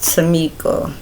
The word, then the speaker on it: Tamikia: My name is pronounced Tamika. Well, people call me Tamika, but my name is spelled Tamikia. right.